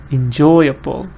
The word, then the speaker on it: enjoyable: But what the focus is still stress is on believe. Still stress is on enjoy. Believable. Enjoyable. That able doesn't get the stress.